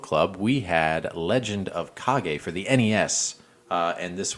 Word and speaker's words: Kage: video game book club we had legend of cog a for the NES and this was a listener request dan from the Dan and Cody podcast it's yeah legend of cog a legend of cog a spelled KAG yeah yeah and I think I